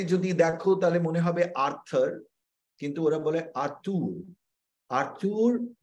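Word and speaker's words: Arthur: এবং তোমরা নিশ্চয়ই জানো নামটা খুব অদ্ভুত ইংরেজিতে যদি দেখো তাহলে মনে হবে আর্থার কিন্তু ওরা বলে আর্থুর আর্থুর আখতুর এরকম করে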